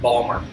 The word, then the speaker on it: Baltimore: you're not pronouncing right Balmer oh Balmer Balmer Balmer merland I've heard that before you know you got to say Balmer yeah and uh you're